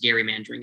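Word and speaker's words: gerrymandering: gary mandering that occurs and that actually is how that word is pronounced gary mandering i hate it too but apparently we have to say it so it's going to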